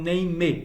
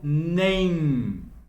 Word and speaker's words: name: questão de sotaque mas a palavra nem não é pronunciado com o último e eu não falo nem me eu falo nem What is your last